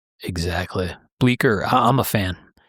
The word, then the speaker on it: Bleecker: If you pull the Ace knives up, it's listed in there and it's spelled B L E C K E R. I do believe like Bleecker Street in New York City.